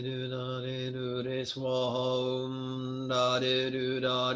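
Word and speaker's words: svaha: Om da de do da de do re swaha. Some people have difficulty pronouncing the triple consonant S, V, W. Think about grandma putting on her lipstick and going mwah. Similar sound, but less mess.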